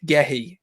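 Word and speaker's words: Guéhi: And then if you can get Anthony Martial back, Gehi, that's how you pronounce it, thank you.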